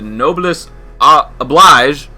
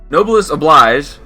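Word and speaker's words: Noblesse Oblige: in that last video the noblest oblige nobleus oblige that's how you say it uh it drops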